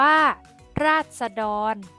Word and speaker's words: ราษฎร: โทษ อ่าน ว่า ขอ โทษ ราษฎร อ่าน ว่า ราษฎร ลูก ศิษย์ อ่าน ว่า ลูก ศิษย์ โฆษณา